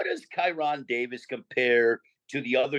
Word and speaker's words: Kyrone: looking past coron hey how do you say your name Kon or chirone it's Kiron one more time tyon